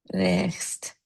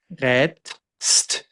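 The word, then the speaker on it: rätst: Yeah, with the e sound, basically. Yes. Yeah, it's an umlaut. Re. Rest. Retst. Yes.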